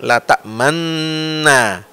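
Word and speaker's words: تأمنّا: nah ketika digabungkan idghamkan la tammanna Nah jadi n tasdid yang pertama itu kita mulutnya ke depan seperti kita baca dhamah u lalu Na jadi bacanya itulah ismam Yusuf itu catatan yang pertama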